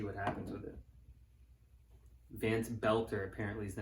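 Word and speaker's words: Boelter: Vance Belter apparently is the name. I was saying the name wrong. I thought it's Bolter.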